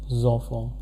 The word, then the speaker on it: enfants: This, because of the liaison rule, this will be pronounced as enfants.